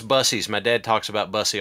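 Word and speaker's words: Buc-ee's: oh that's a nice shirt yeah it's from bussies no I think that's place is pronounced Bucky's no it's busies my dad talks about Bussy all the time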